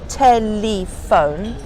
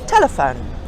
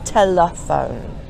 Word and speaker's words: telephone: for example it's not telephone it's telephone so the first sound is stressed on the first syllable Tec that's where the